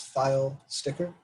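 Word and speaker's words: Pfeilsticker: If you're worried about pronouncing this, it's File Sticker, like a filing cabinet with a sticker on it.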